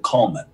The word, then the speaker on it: Colman: i'm like because it's it's only a slight different pronunciation from my name actually my mother when she was alive she always said coleman because that was also my dad's name so they say coleman